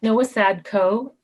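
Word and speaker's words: Nowosadko: followed by sheila maturo hi everyone i'm noah sadco and like nancy no tim very i'm very impressed by the pronunciation and that's spelled n as in nancy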